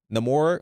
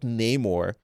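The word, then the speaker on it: Namor: Uh, you're making fun of how I pronounce Nemore. That's how you pronounce it, buddy. Not Neyore.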